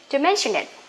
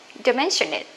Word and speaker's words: don't mention it: Don't mention it. Don't mention it. Okay, T here, we don't have to pronounce T.